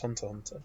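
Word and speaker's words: Hunter × Hunter: of the hit show hunter x hunter or apparently it's pronounced hunter hunter yep it's big fun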